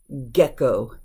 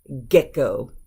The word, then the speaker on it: gecko: these are the exceptions it's not a soft G it's a hard G so let's look at